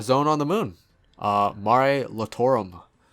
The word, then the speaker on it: Mare Lamentorum: on the moon uh mari lotorum i believe i'm saying that right lamentorum mare lamentorum that that's that's how you say it there you go